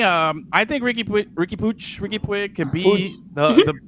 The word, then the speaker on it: Puig: i think so okay so it's pig but he says pooch so so that's how you say it then pooch because okay ricky pooch but i'm gonna say i'm gonna say puig because i had a